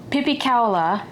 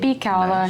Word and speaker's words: pipikaula: It is the pipikaula That's the right way to say it. pipikaula Nice.